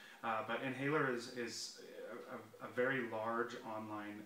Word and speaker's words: N Haler: guys can get there because it's spelt a little a little differently but inhaler is a very large